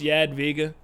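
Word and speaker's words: Jadwiga: there yeah Diego I I always want to pronounce the J wrong I know it's yad vega but it's just it's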